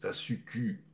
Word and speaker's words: Tasuku: Nobel Tasuku Honjo, oui, il faut prononcer les UU en japonais, c'est pas OU, hein, parce que tout le monde fait l'erreur. Donc je recommence, Tasuku Honjo est convaincu que